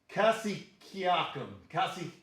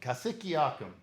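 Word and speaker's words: Cassiciacum: written up there in Cassiacum. Why do I mispronounce that? It's Cassiacum. Cassiacum.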